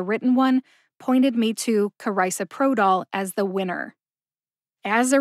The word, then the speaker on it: carisoprodol: being frustrated by not knowing how it's actually pronounced you got this thanks for joining me today to learn how to say karisa Pro doll to find the show notes for this episode